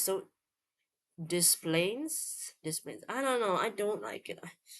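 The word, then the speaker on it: Des Plaines: De Plain. You don't say the S.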